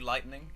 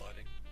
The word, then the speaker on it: lighting: Yeah, mood lightning. Is that how you say it? Oh, it's mood lighting.